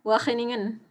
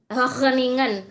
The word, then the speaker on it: Wageningen: aku bingung nyebutnya bacanya gimana Tin Wageningen Belanda bacanya Wageningen Wageningen Okelah titik-titik Belanda di Belanda dan sekarang masih